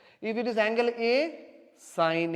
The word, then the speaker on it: sine: in we consider as the small way is sign actually not seen so don't memory call pronounced like seen is not as seen is a sign okay si any but in short we are